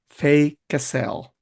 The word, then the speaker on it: Faye Casell: Fay Cassell Correct.